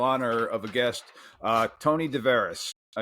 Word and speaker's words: DeVeres: of a guest, Tony DeVeres. Tony, correct me if I said the last name wrong again. I'm sorry. No, you're right. It's DeVeres, but Okay.